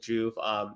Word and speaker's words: Joovv: So it's like if you say rejuvenate, it's kind of right in there, right? Joovv, rejuvenate.